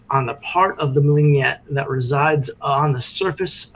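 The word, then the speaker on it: Mlenyegt: So the second one is Mlingyet. It is spelled M-L-E-N.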